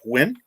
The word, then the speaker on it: Huynh: nguyen and you know his name is h-u-y-n-h but it's pronounced win and that's what he